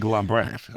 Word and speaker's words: Lambrecht: About to have a conversation with Lambrecht, Greg Lambrecht. Did I say it right? Yes, that's close enough. I mispronounce it, so you can say it.